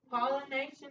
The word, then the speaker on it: pollination: At this spot, pollination happens. Don't forget that. Pollination. Actually spelled like this. Remember some of y'all have talked about that T-I-O-N. It makes that shun sound.